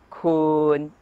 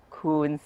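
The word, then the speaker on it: คุณ: Kun, miton, kun, kun is pronounced with a long vowel sara u. If you pronounce it with a short vowel sara u, it becomes kun, meaning you.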